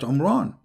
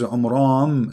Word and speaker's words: Amram: of Mary is not Imran. Secondly, he could not pronounce the name correctly of the father of Moses and Aaron, because his name is Amram. So the last letter is M, not N.